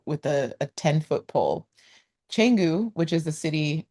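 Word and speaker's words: Canggu: It's not Kangu, it's Changu. And in the Bahasa Indonesia language, um, C is cha most of the time.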